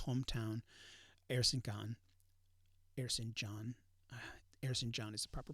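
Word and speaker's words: Erzincan: far as sogoman's hometown air synchan airson john harrison john is the proper pronunciation um and when they saw that the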